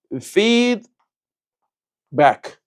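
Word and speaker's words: feedback: fe드백 f 발음 살려 주셔야 돼요. feed back 오케이 feed 넘어갑시다.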